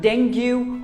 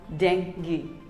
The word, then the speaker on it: dengue: It is not dengue or dengue. It is simply called dengue. That's right, dengue. Dengue.